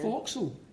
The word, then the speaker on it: forecastle: Forecastle. Forecastle, alright. Yeah, when I saw that in the script, guys, I hadn't a clue how to say it. A lot of apostrophes. A lot of Forecastle. Okay. Forecastle, yeah.